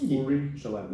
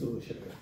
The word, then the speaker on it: Uri Shalev: And I pronounced it right, so it's Uri Shalev. It's Uri Shalev. Right, yeah. So I had a mistake. I initially made a mistake the first time I said Uri, but it's Uri.